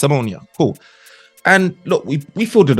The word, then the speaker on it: Omonia: What's their actual name? It might be ammonia. Is it ammonia? Yeah. But maybe it's the way we pronounce it. So the way I'm pronouncing it. Look, let me. Yeah, ammonia. It's ammonia.